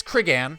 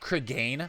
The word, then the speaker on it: Cregan: Yeah, it's Cregan. It's not Cregan, as I was pronouncing it incorrectly for so long.